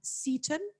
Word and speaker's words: Seton: He graduated from, do I pronounce it correct? Seton?